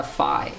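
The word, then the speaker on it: phi: Fe like EV uh Fi Fi Fi every single lecture see I literally called it fee it's pronounced fi this thing F rhymes with pi oops that's not it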